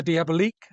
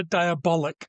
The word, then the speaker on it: Diabolik: Today we're talking about Danger Diab, which is not how it's pronounced. Sorry, Danger Diabolic.